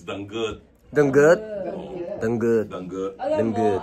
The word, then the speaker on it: danggit: Spirit pronunciation is danggut.